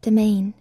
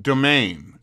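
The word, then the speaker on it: demesne: disc that's true okay it's pronounced domain or day main not domain domain uh land attached to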